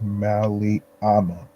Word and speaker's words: Mali Ama: to be raw and vulnerable oh and it's pronounced mali amma yes gotcha um of course of course um